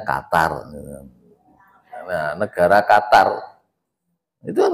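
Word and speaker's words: قطر: Nah, kalau negara itu punya pendirian yang kuat seperti Kotor kemarin ya, bahasa kita Qatar ya, aslinya bunyinya kotor. Orang Indonesia kalau mau ngomong kotor, negara kotor, kotor tuh nggak baik kan itu. Nah, lalu bacanya Qatar.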